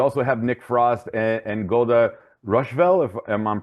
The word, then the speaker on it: Golda Rosheuvel: But you also have Nick Frost and Golda Rosheuvel, if I'm pronouncing her name correctly. Yeah, Golda Rosheuvel.